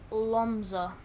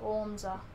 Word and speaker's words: Łomża: Like, my city, my mum's home city is Lomza. I'm pretty sure I didn't get it right, but you ready for this? I'm so smart. Okay, watch this. Google Translate. Boom. Łomża. Apparently it's pronounced like Łomża.